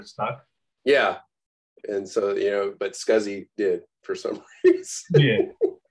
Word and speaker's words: SCSI: They were like, it was supposed to be sexy, but it never stuck. Yeah. And so, but Scuzzy did for some reason.